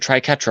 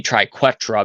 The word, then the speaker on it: triquetra: because I pronounce it Tri ketra all the time but it would be triquetra because it has a u after the Q so it' beq so